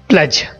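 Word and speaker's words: pledge: यहाँ पे हम डी को साइलेंट करेंगे, प्लेज।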